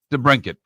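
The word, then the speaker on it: DeBrincat: Detroit, they got a couple of goals from that uh how do you pronounce it? The Brinket.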